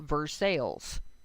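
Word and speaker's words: Versailles: is a community that we call versales it is spelled versai and that's fine you're allowed to angiz names I I I insist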